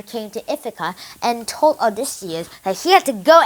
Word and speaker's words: Odysseus: man called odysseus or as we pronounce it in english odysseus is the king of